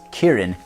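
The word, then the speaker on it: キリン: Same characters, although it's pronounced Kirin in Japanese.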